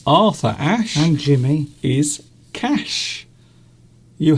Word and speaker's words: Arthur Ashe: I need a bit of Arthur. Arthur Ashe. Arthur Ashe. Arthur. Because the TH would be pronounced like an F Arthur. in London. Arthur It's in the Ashe. middle of a word.